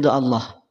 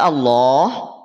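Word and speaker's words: الله: mimman katama syahadatanahu minallah perhatikan lafaz Allah ini secara kaidah ataupun secara hukum akan dibaca tebal Kenapa dibaca tebal karena sebelumnya ada huruf yang berharakat fathah sepakat setuju lafaz Allah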